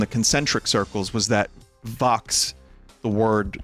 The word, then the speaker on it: Vox: Vox also rhymes with box, which is square.